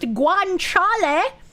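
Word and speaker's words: guanciale: It's pronounced guanchal and it is bacon made from pig cheek.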